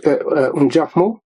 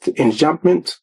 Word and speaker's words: enjambment: For example, he used enjambment. English, we pronounce it enjambment. It's a French word, enjambment.